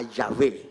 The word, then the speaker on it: Yahweh: Cada vez que alguien menciona a Yahvé Every time that somebody mentions o Yahweh Yahweh como se or pronuncia en el Yahweh or original, Yahweh as